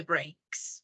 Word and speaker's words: brakes: Yes, you say slam on the brakes. Brake means frenos del carro. Brakes. Se pronuncia igual que el verbo romper, but it's different the spelling. But you pronounce brakes the same as brake, as the verb.